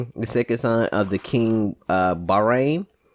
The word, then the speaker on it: Bahrain: The second son of the king Bahrain. Bahrain? No, it's B-A-H... R-A-I-N. Bahrain. It wouldn't be Bahrain, it's dumbass. It's B-A-H. You don't pronounce the H separately, dumbass.